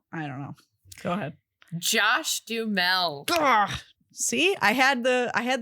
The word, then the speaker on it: Duhamel: Josh Duhamel. See, I had the right syllables. Josh Duhamel. Duhamel.